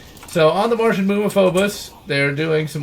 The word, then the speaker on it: Phobos: on the Martian moon of not Phobos but focus they print helps it focus I don't know why they pronounce it like like that but it's hilarious the